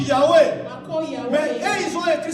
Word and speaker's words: Yahweh: Vous savez que dans la Bible hébraïque, ou même chez les Juifs, moi je prononce Yahweh.